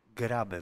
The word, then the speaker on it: Grabe: The first pronunciation is correct, so I suppose that it refers to Grabe version.